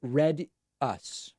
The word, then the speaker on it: Redis: 2020 by the way my last name is pronounced read us read us okay read Redis I apologize Samantha Marx